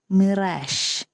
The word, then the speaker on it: mirage: going to study is Mirage m-i r-i ge it's pronounced as Mirage okay and the Malayalam